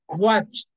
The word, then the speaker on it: watched: what what okay so what you do when you don't feel a vibration here is that you will use the T sound okay example we are going to pronounce this what like this watched watched the ed sound is going to be like watched okay we are not adding an extra syllable here we say watch watched same syllable only one syllable